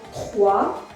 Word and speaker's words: trois: T-R-O-I-S-O-I, 3. Yes, silent.